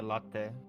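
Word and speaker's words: Lotte: Yeah, latte. Latte? But it's lot is how it's spelled. Mm-hmm. But they say latte.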